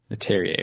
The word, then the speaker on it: Leterrier: It's, I think actually Leterrier. Last time Leterrier. I had no idea how to pronounce it. I looked it up and I completely forgot. So this time I made a point. I believe it's Louis Leterrier.